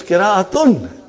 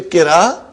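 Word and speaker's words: قراءة: It is qira'atun. Are you with me? When you say qira, you did not pronounce ta marbuta. Iski qira bahut achhi hai.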